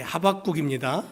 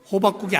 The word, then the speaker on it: 하박국: 하박국 선지자는 이 발음을 잘못하면 그 된장국이나 뭐 김치국이 생각이 날 수 있는데 예, 하박국입니다. 발음을 잘해야 돼요. 하박국 선지자는 바벨론에 의해서 호박국이 아니고요, 그전에 하박국, 예, 예, 호박국으로 들리시는구나.